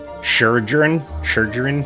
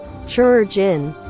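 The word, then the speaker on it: Chirurgeon: this but the uh sure journ it's like surgeon but there's a Chri in front of it it's I can never say it I'm horrible with pronunciation ask anyone sure gin they are effectively the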